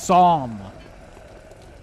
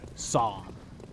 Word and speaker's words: Psalm: The P is silent. Oh my god, see, I'm still getting confused. So it's Psalm. Psalm.